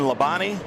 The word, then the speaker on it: Labonte: would that have been lebani yeah Bobby Labonte Bobby Labonte you say Levante we're a NASCAR country I gotta try to make three syllables one syllable I know T's right